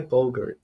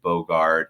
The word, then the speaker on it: Boger: you for saying bogur rhymes with yogurt um I grew up